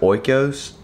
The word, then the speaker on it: Oikos: I pronounce it oikos.